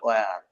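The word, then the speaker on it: where: এটাকে আপনার যারা ইংলিশ ভাষাভাষী এরা বলে ওয়ার। এইচ সাইলেন্ট রাখে। এই উচ্চার উচ্চারিত হয় না।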